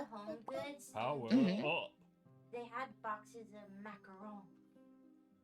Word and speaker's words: macaron: The French cook the the macaron. Macaroon. Macaron. Well, macaroon is like right. That's different. Macaron.